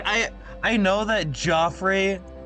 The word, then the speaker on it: Joffrey: Like I I know that Joffrey uh can be pronounced Jeffrey, but also like Joffrey leaded sounds better to me.